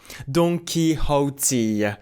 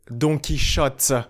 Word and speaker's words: Don Quixote: Absolutely, Kyra Leroux, and I also had to check the pronunciation because in French we say Don Quixote, which is completely different.